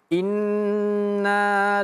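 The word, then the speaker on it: إنّ: Di sini huruf nun ini tasydid ya, nunnya tasdid. Jadi ditahan ya inna inna jangan kelama ee jangan kecepatan ya jangan inna tapi inna ladaina.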